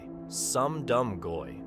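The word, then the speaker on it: Sum Dum Goy: Some Dum Goy sounds like some dumb goy, a Yiddish phrase that literally means some dumb non-Jew.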